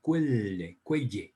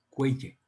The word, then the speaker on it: Quelle: Pero como ellos hablan alemán, entonces en alemán fuente se escribe Quelle con Q, Q-U-E-L-L, Quelle, Quelle, ¿sí?